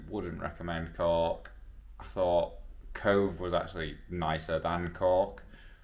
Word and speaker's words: Cobh: Titanic I think so it's actually pronounced Cove not cob which I've been saying